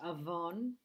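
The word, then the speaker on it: עָוֹן: as we come to the iron this is pronounced Avon Genesis 4 13.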